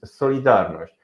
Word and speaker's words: Solidarność: The pronunciation of this movement is Solidarność.